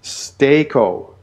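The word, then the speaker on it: στήκω: It is pronounced stako.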